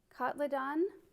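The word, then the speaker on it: Cotyledon: little petite looking plant kotlidon is how you say that anyway bears paw super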